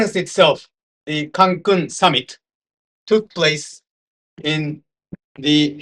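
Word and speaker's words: Cancún: And the conference was at Cancun, Sheraton. By the way, the pronunciation for the word Cancun, which is the name of this village, is with accent here.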